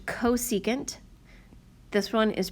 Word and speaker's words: cosecant: This one is pronounced cosecant, this one is pronounced secant, and this one is pronounced cotangent.